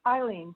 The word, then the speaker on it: Eileen: first speaker today is elaine okay i'm unmuted okay it's eileen thank you mayor that's okay everyone gets my name wrong and i'm always sensitive enough to correct it uh i live at